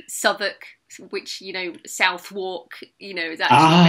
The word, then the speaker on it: Southwark: And I really only tend to feedback on proper nouns, like English place names, like Southwark, which Southwark, is actually Ah, pronounced yeah, Southwark.